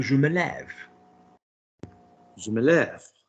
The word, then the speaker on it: lève: Now say je me lève. Je me lève. Great, because lève has now got the accent on it, so it's pronounced differently.